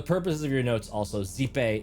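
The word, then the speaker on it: Xipe: Also, zipe is spelled X I P E.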